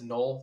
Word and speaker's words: Noel: It looks like it's spelled Noel, just getting it out there for everybody. It's Knoll early in the process.